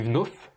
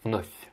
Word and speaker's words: вновь: C'est-à-dire que tu as dit вновь, alors que c'est вновь qu'il faudrait dire. вновь. Il faut mouiller la dernière lettre. Le V qui se prononce comme un F, il faut que tu le mouilles.